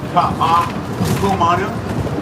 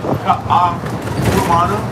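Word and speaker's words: Kaʻahumanu: Ka'a Kumanu. Ka'a Kumanu. Slow it down, pronounce all the vowels. It's written right here again in the if you want. Queen. Ka'a Kumanu. Ka'a Kumanu.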